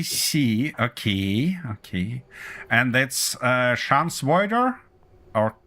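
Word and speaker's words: Schadenfreude: Schadensfreude. And that means? How to say it? It's basically having the joy of a misfortune of others. Ah, I see. Okay, okay. And that's Schansvoider?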